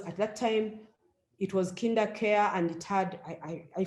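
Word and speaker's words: KinderCare: later i discovered that kinder care is tough for some people to announce to pronounce some in in rochelle we have a joke some people call call it kinda curry and i am not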